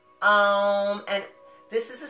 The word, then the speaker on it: Om: So it's actually kind of pronounced like A-U-M, Om, and remember the humming.